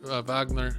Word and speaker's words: Wagner: do Wagner France Wagner Wagner actually is the correct way to say it he's German and Paulo uh benero